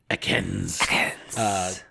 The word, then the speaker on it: Ekans: What about Ekans Spotlight Hour? You said it wrong. You haven't... It's Ekans.